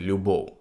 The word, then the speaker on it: любов: дикторів вони всі фекають що це саме значить літера в у кінці слова Взагалі будь-де вона не вимовляється як ф тобто якщо ви напевно всі чули як там хтось каже любов треба казати любов і вони фекають в